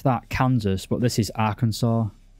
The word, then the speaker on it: Arkansas: Then have the now, Americans would pronounce that Kansas, but this is Arkansas, not Arkansas.